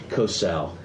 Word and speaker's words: Kocel: Chip, who by the way, I mispronounced his last name. I called him Kocel. It's Kocel.